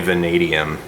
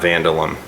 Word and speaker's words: vanadium: vanadium barrel aaron cowan chromoly vanadium not vandalum i like him though